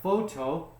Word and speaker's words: photo: didn't point out is the ph most times will sound like an f okay so we have photo two syllables now you have to guess where does the stress go on the first one or the second one